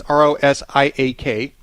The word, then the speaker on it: Rosiak: That's Rosiak. I'm pronouncing that correctly, right, Luke? Yeah.